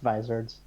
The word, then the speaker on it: Vizard: They're pronounced Vizards, more or less.